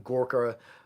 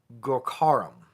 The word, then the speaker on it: Gorkharam: that I'm being mispronouncing Gorka I've always referred to him as Gorka Ram it's gorkharam I believe is how his name is pronounced you you stress the cost on the kha oh thank you yeah